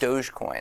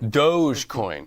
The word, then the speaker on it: Dogecoin: about crypto currency uh dogcoin how is that pronounced Dogecoin Dogecoin all right it's the difference between Target and